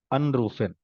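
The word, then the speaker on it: anrufen: ये अन है, सेपरेबल है, तो इसको जो स्ट्रेस रहेगा ये फर्स्ट वाले सिलेबल पे रहेगा। अनरूफन, यू कैन से अनरूफन, यू कैन से आइनलाडेन, नो, आइनलाडेन, अनरूफन, ठीक है, फाइन।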